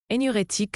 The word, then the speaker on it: énurétique: Énurétique se prononce énurétique.